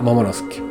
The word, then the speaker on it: Momonosuke: Lo puedes buscar con, no sé, un Momonosuke. Que el otro día un suscriptor me corrigió que se pronunciaba Momonosuke.